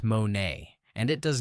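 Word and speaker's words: μονή: The word Jesus actually uses is mon, pronounced monay, and it does not describe a mansion, a palace, or anything remotely like a private estate.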